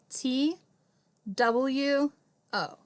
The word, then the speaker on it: two: have two new books now listen two new they rhyme don't they do they are they spelled the same way got to be very very careful that two the W's silent all right last one